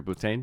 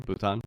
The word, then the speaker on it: Bhutan: How do you pronounce the name of the country? Bhutan. Bhutan.